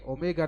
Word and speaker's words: omega: Ini omega ya, bukan W, omega bacanya.